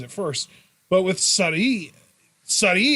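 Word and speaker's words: Sarray: first but with sari sari is kind of a weird word to pronounce in japan for english people because you've got like the really really japanese sounding r because if you say surrey it sounds off it's gotta be sunny and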